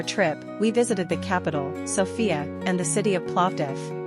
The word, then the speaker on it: Sofia: The capital city is Sophia, but they pronounce it Sophia with stress on the O.